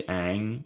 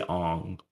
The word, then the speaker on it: Aang: like the they say his name is Aang and they say Ong they call him like Ong and then like even